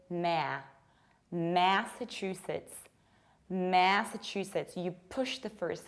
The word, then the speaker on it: Massachusetts: Nothing surprising here, Massachusetts, Massachusetts. However, you need to remember about spreading your lips to the sides when you say ma. I don't say ma, I say ma. Massachusetts.